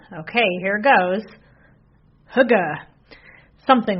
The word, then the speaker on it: Hygge: It's called, okay, here it goes, Hygge, something like that. Anyway, it's spelled Hygge, and it's this Danish practice of coziness, warmth, connection, and slowing down to savor the moment.